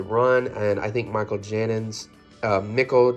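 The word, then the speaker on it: Janín: to read the run and I think Michael janon um niichel jenon is how you pronounce it his art is amazing I read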